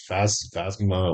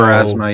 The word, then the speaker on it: Pharasma: It's the I think I had it at Phasma. What do you call it? For Pharasma? thank you. So Pharasma, yeah.